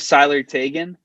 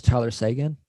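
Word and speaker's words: Tyler Seguin: stanley cup finals uh i think they're wrong with sylar tagan those aren't words uh but his name is tyler sagan uh he's 20. he doesn't rhyme with salary taken he's only 28 mind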